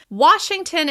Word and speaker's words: Washington: Washington is stressed on the first syllable. Washington. Washington. Washington. You can really hear the reduced syllable at the end of the word.